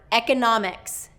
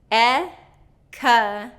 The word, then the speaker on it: economics: So make sure that you can say each one of those syllables separately, that you're getting your mouth in the right position, you're getting the vowels correct. E-ca-na-mix. And if there's a combination there that's hard for you, break that down until you can smoothly connect those syllables and then bring it all together.